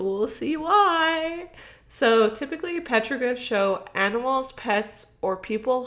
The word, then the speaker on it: petroglyph: How do you say it? Petrograph? Oh my, that's Petroglyph.